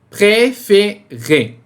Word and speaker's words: préférer: O acento em francês não demonstra a sílaba tônica, ele mostra a sonoridade da letra E. Então aqui, como temos um acento agudo nesse E, a gente vai pronunciar E. Como em Rio Tietê, por exemplo, aqui em São Paulo, Rio Tietê. Ok? É exatamente esse mesmo E. Então aqui fica préférer.